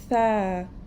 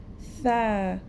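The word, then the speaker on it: ث: We take the tip of our tongue and we touch the edges of our top front teeth.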